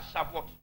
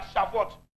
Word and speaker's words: Shavuot: Et ça s'écrit C-H-A-V-O-U-O-T. Alléluia. Le jour de la Shavuot.